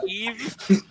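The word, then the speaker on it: Aoibh: And it's Eve. A-O-I-B-H. Eve.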